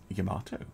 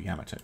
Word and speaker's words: Yamato: we can start work on the fullon yam Yamato or Yamato depending on how you want to pronounce it Italy by the way uh it's